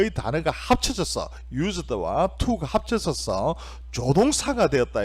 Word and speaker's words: used to: 어떻게 해야 되는가 하면 used to라고 안 하고요, used 이렇게 발음을 하게 됩니다. 이해되셨죠? used to는 조동사이고 발음할 때도 used to가 아니고 used처럼 한 단어처럼 발음을 해야 된다 이게요.